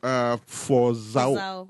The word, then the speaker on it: Fozao: And of course, like I said, we have a studio guest in the person of Damaris Fozao. Did I pronounce the name well? Yes, you did. Fozao.